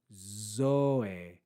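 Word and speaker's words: ζωή: accent so we have zo zo zo and try to try to lengthen that o sound when you read read the Omega zo in Al zo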